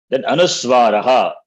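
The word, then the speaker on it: अनुस्वार: So Anuswara, they cannot be pronounced independently. So whatever the pronunciation of the vowel, along with that vowel, the Anuswara is pronounced. Now, for example, here if you see, am, im, rim, lum, aim, om. In fact, that is om. So that is how it is pronounced. Therefore, makar, this Anuswara doesn't have independent pronunciation. Takes the sound of the vowel.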